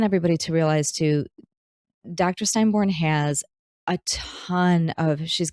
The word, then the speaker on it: Steinborn: Now I noticed you pronounced your last name Steinborn.